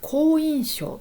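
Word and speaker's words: 好印象: で、好き印象と書いて読み方好印象と読みます。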